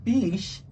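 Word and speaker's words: biche: be good so my my beach is my deer in french as in like venison deer oh oh oh so my dear oh okay and so and so that is spelled b-i-c-h-e so sometimes so when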